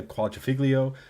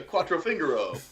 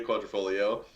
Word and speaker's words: Quadrifoglio: We got the Giulia Quadrifoglio, but not the manual. Once again, you're right on the money. Julia. Wow, that was the worst pronunciation. Quadrifoglio? Yeah. The Julia Quattrofingero.